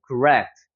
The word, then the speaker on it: correct: 그 다음에 여기 같은 경우도 여러분 correct가 아닙니다. correct가 아니고 여기 강세가 적용이 되니까 correct가 되는 거예요. correct. 그죠? correct. 으 사운드.